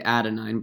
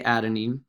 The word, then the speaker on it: adenine: these are pronounced is a is adenine some some people will say adenine but i always say adenine the t will stand